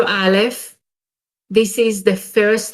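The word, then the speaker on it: אלף: it is a consonant it's silent sorry unless it is a company accompanied by any code the pronunciation of alif is similar to the letter a in english so i show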